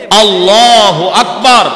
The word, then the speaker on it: আল্লাহু আকবার: এই 3 জায়গার কোন জায়গায় লম্বা করলে নামাজ নষ্ট হয়ে যায়। আল্লাহু আকবার, বারের মধ্যে লম্বা করা যাবে না, আকবার মধ্যে লম্বা করা